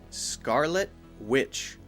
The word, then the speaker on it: Scarlet Witch: Witch Scarlet Witch now notice when I say Scarlet Witch I'm not saying the T sound because if I say Scarlet Witch or Scarlet Witch it sounds a little bit too clear it sounds like I'm trying too hard and it doesn't sound natural so here we'll do a stopped tea that means we're going to basically not say it but still have a